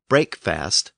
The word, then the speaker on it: breakfast: This process also gave us the difference between break and breakfast. As a single-syllable word, break had a long vowel, and when fast was added to the end, we have the scenario where that first vowel became short, and breakfast became breakfast.